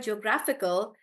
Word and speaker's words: geographical: British uh geographical guys in the word geographical the stress is on graph gra and that's why we say geographical geographical like that dictator on T dictator